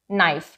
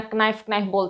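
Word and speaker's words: knife: को कहते हुए सुना कनाइल रहते हो तो आज के बाद कनाइल दैट इज नाइफ बिकॉज अगर एन से पहले के आ जाएगा तो वो साइलेंट हो जाएगा चलो नेक्स्ट रूल देखते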